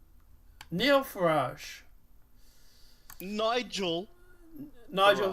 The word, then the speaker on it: Farage: Neil Farage. Nigel Nigel Farage. Farage.